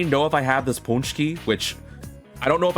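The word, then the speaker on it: pączki: I It says pronounced punchki like this, but ah gosh, man.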